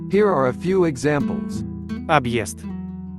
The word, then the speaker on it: Объезд: Объезд, обест, съезд, сест, объятие, обятие, подъезд, подъезд. The hard sign sort of adds a new sound between the letters. The sound is Е.